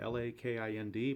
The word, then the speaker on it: Lakind: It's spelled L-A-K-I-N-D, but it's pronounced Lakind.